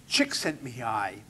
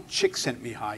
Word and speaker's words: Csikszentmihalyi: I think it's pronounced Csikszentmihalyi. Mihaly Csikszentmihalyi.